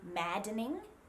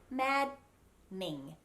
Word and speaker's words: maddening: australia what's going on so other examples of the silent d followed by an e n would be maddening we don't say maddening we say mad ning just two syllables maddening and another one